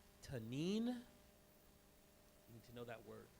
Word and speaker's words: tanin: in not Greek Hebrew a lot it's called tanine need to know that word tanine t a